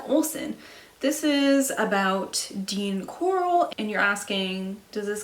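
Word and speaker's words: Corll: this is about dean coral and you're asking does this guy have the same last name as your first name and i'm telling you it sounds the same but it is not his last name is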